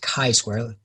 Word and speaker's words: chi-square: So that's chi-square, and it's pronounced chi-square, not chi like the T.